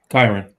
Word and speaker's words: Kyren: especially with the circumstance with, how do you pronounce his name, Kyren? Lacy? Oh, yeah. Kyren.